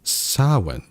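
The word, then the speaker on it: Samhain: oh approximately oh okay I mispronounced it approximately pronounced sawin saw okay is a Gaelic festival traditionally occurring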